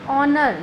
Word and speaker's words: honor: तो यहाँ पर बेटा ये स्टार्ट तो एच से होते हैं, बट लेकिन इन वर्ड्स में जो है एच जो है वो साइलेंट है, ठीक है। तो ये इनकी जो आवाज़ है जब हम इनको बोलते हैं तो ऑनर यानी कि ओ की आवाज़ आती है, ऑनेस्ट ओ की साउंड, ठीक है।